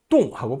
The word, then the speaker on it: 洞: 똥자는요, 동굴이라는 뜻이에요. 동굴 동자입니다. 똥하고 발음합니다.